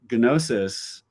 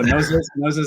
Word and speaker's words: Gnosis: So you pronounce the G. Okay, sorry. Yeah, you threw me off. Oh, Gnosis.